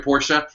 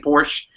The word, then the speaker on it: Porsche: And he taught me all about the history of Porsche. And he made me stop saying Porsche and pronounce it Porsche because he was so insane about it.